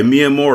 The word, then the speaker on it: Mia Moore: And by the way, Mia Moore is literally spelled like Mia Moore, like my love, like Miamor.